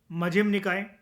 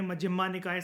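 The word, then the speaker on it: मज्झिम निकाय: आप इसको ए जोड़कर भी प्रोनाउंस कर सकते हो, दीघा निकाय, मझिम्मा निकाय, संयुक्ता निकाय, अंगुत्तारा निकाय और खुदक का निकाय। लेकिन ए क्योंकि साइलेंट होता है पाली, प्राकृत और संस्कृत में, जब हम उसको इंग्लिश में ट्रांसलेट करके लिखते हैं तो आप इनको ऐसे ही बोलो, दिग निकाय, मझिम निकाय,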